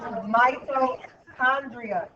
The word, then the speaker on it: mitochondria: it called again no mitochondria the CH is pronounced like a k Mito Andria hold on